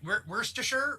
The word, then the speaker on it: Worcestershire: whenever there's Shire at the end of a place name, we just say it as Shire instead. Like Worcestershire, right? Is that what we talked about last time? Yeah. Worcestershire. Yeah. It should technically phonetically be like Worcestershire, but it's just Worcestershire.